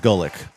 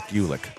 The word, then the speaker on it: Gulick: I've recently learned that it's not Gullick, it's Gulick.